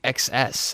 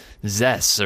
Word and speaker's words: XESS: start somewhere well yeah we were surprised to learn how you actually pronounce the company name because I've been saying this wrong from the beginning since since you did sponsor the contest it's actually excess I always thought it was Zess or uh yeah I mean